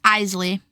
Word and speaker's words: Isley: I feel like there's a couple different ways you could pronounce that. Eley. Oh my god, they look so cool though. It's Eley.